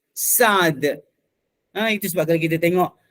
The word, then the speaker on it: Sa'd: Tapi kalau sin ain dal biasanya dia baca dengan Sa'd. Itu sebab kalau kita tengok Sa'd ibni Abi Waqqas, Sa'd